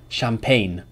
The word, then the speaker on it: champagne: is for G remember G is not pronounced when it comes before an N champagne for ensign design but